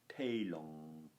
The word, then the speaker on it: telum: Telum, the Romans, remember, would have nasalized and internalized the M noise at the end of a word. Telung.